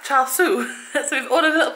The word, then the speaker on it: char siu: It is pronounced char siu.